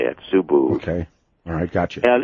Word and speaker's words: Subud: are the author called effect which is a so booed su b UD that's how that's pronounced as well I mean so su su